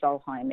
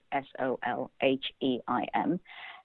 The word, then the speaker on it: Solheim: Deu is Deu, and Solheim is Solheim.